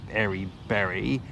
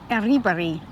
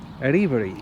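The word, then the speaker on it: Erriberri: But it's not actually Eri Berry. And this blew my mind when you worked or found out how you pronounce its name. How's it pronounced? Aribari. Aribari.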